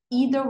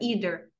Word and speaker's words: either: Either way. Essa palavra, either, algumas pessoas pronunciam como either. Tá ok também. Mas na música ele falou either.